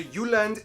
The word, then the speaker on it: Jylland: Denmark is made of the Jylland, not Jutland, peninsula that connects to Germany in the south, as well as 1,419 islands.